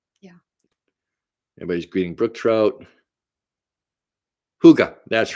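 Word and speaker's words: hygge: Huga. That's right. I knew it wasn't the way it looks. I knew it was phonetically pronounced different.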